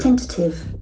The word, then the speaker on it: tentative: times a beautiful observation tentative tentative tentative the accent falls from the first syllable tentative tentative tentative tentative